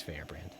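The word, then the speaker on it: Feyrbrand: right the green tusk dragon fear brand or fair brand i'm not sure how you say it it's fair brand that one was a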